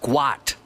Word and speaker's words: Gout: His dad has said that he might change the spelling of his son's name because it's pronounced Gwot, where he's from, G-W-O-T.